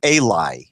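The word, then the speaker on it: אלי: have are consonants so the word uli can be pronounced here as eli eli would mean to me would it mean to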